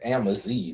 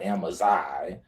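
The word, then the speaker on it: Amazigh: All right, first of all, it's Amazi, not Amazai.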